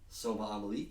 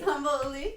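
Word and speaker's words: sambal oelek: Soba amalik. Oh, I just butchered that. That's not how you say that. Sambal ulik, yes. It's a garlic chili paste.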